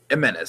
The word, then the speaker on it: Jimenez: It's an H. Jimenez. No, it's spelled X, but it's pronounced H.